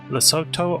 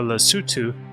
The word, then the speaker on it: Lesotho: Lesotho or Lesotho, I think both pronunciations might be correct, is a country in Africa and is likely where Bungie got the name for this dam, although it is pronounced differently.